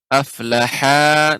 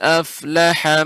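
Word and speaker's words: أَفْلَحَ: Barusan Bapak membaca aflaha. Nah, ini dipanjangkan. Seharusnya pendek. Ya, ini tidak ada matnya. Jadi bacanya pendek. Dengarkan terlebih dahulu. Qad aflaha man tazakka.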